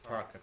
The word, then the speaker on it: Tarokka: Yeah, Tarokka. I have no idea then. Cool. Yeah, the Tarka cards. That might be D&D Tarka.